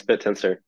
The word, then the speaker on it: Bittensor: to tell us everything about bit tensor and pronounce it correctly right yes bit tensor so yeah tell us a little bit about